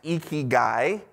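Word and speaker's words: ikigai: just kidding just kidding pronounced eeky guy uh this Japanese concept uh eki um translates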